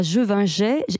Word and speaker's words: Gevingey: Donc vous êtes avant tout vigneronne, vous exploitez avec votre mari le domaine Champ Divin à Jevinget. Est-ce que je prononce bien ?